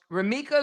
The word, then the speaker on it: Romeca: So Romeca literally repeated her name.